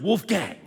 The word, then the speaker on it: Wolfgang: Bang rhymes with Wolfgang, all right? In case you were having trouble with pronunciation on that one.